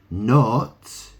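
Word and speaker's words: knot: they they say not the K is silent so it is it's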